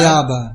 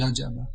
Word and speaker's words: Jajaba: Yayaba. It's in Sanskrit, in Bengali it's pronounced Jajaba.